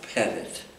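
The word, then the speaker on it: Petit: in Hartford I landed with a family called pedit uh who at the time had an infant child and that's spelled p e TI T TI T oh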